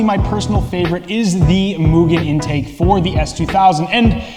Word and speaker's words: Mugen: of our brand name mugen some people call mugen but which is incorrect the correct pronunciation is mugen its meaning is as you know unlimited in case you call yourselves mugen fan or mania please pronounce mugen probably from today not mugen but mugen mugen